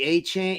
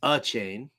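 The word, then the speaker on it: Achane: um hop on the a chain yeah well it's uh it's a chain not a chain so it's a chain I've been hearing so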